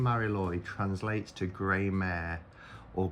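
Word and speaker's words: Mari Lwyd: Now, I don't know this character, the Mary Lude. Okay, so I've just looked it up, and it's from Welsh mythology, and it's pronounced Mary Lloyd, and it says the name Mary Lloyd translates to grey mare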